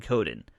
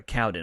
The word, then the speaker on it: Cowden: player personnel and that's ryan coden um or cowden i'm not really sure how you pronounce that uh i've been saying cowden but yeah i'm right it's c-o-w-d-n let's say cowden that that sounds easy enough it's more interesting than